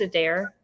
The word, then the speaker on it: Adair: So from Facebook, someone said, I was wondering, you said the Adair, is it pronounced Adair? Yeah, Adair.